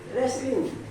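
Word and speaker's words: wrestling: वैसे तो ठीक है मैं रेस्टिंग। यहाँ पे टी भी साइलेंट होगी, यहाँ पे टी क्या होगा?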